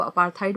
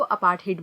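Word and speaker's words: apartheid: अपार्थाइड के 2 pronunciations होते हैं। यूके इंग्लिश में इसको अपार्थाइड बोला जाता है और अमेरिकन इंग्लिश में इसको अपार्थाइड बोला जाता है।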